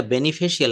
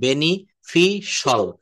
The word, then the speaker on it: beneficial: শরীরের জন্য খুব ভালো, কিন্তু এটা বেনিফিশিয়াল না, এটা উচ্চারণটা হবে বেনিফিশাল, বেনিফিশাল। দেখছেন?